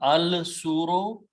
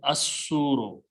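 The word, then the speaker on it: الصور: Then when you put al, it becomes da, and al will remove one dhamma, so it will become al suro, but lam, swad is a shamsi letter, it will kill the sound of lam, so it will be pronounced as asuro. Okay.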